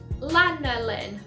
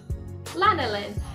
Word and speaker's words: lanolin: comes from i can never say it right lana lin lanolin which is sheep's wool and obviously wool is